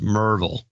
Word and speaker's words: Maryville: with enclosure DeLozier enclosure from Maryville pronounced Merville yeah yeah that's but